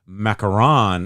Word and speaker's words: macaron: that um uh ma macaroon is an American coconut treat macaron is the French cookie exactly so I knew